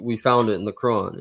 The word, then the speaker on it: Quran: Like when you say Quran, you gotta force the R, like Quran. Quran. There's a pause in some things, like with Jannah.